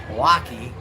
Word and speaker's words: Milwaukee: Milwaukee.